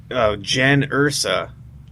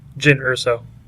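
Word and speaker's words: Jyn Erso: Mispronounced the name at first, but that's okay. Isn't it Jin? Jin Urso.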